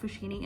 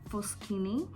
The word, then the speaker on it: Foschini: As my father-in-law says, it's not Fushini, it's Foschini, the right pronunciation.